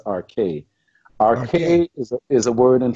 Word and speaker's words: arche: You mentioned the arc, and the actual pronunciation is arche.